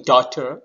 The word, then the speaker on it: daughter: Similarly, in daughter, G sound is G, but we are not pronouncing.